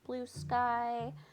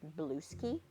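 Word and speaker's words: Bluesky: Um, side note, I have a very hard time not pronouncing blue sky like blue ski because it's just literally the same spelling. So, I always want to call it the blue ski.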